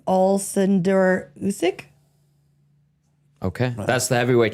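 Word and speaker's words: Oleksandr: It's and I- Alexander Usyk. Oh, yeah, Oh, it's can't- it's spelled with an O, but it's Alexander.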